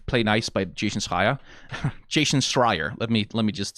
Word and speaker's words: Jason Schreier: Jason Schreier.